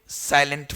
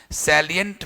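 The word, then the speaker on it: salient: अगला लिखेंगे सैलिएंट features of, सैलिएंट का मतलब अच्छा, वो साइलेंट नहीं है, साइलेंट वो साइलेंट है, सैलिएंट वो लिखा था सैलिएंट features of genetic codon, सैलिएंट features of DNA, ऐसे माने उसके बढ़िया गुण।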